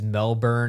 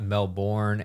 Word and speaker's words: Melbourne: someone else commented how it's it's Melbourne not Melbourne and it's Brisbane not Brisbane and I'm like